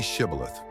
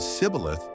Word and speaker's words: Shibboleth: If he replied, "Oh no," they said, "All right, say Shibboleth." If he said Sibboleth, because he could not pronounce the word correctly, they seized him and killed him at the fords of the Jordan.